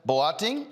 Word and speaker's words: Boateng: Joining me now from Canada is Boateng, owner of Mersicookware and Company. Did I pronounce the last name right?